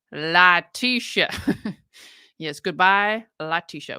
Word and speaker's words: Letecia: accept no objection here it's pronounced Latisha yes goodbye a lot